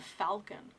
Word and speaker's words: falcon: that's what happened to Falcon apparently Falcon was FAL home like salmon the L was not pronounced and now people are